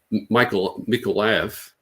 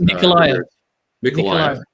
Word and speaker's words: Mykolaiv: They're going to go for another 4 oblasts in Dnipro, Petrovsk, in Mykolaiv is how you pronounce it. Mykolaiv. Yeah. Odessa. It's pronounced differently in Russian, of course.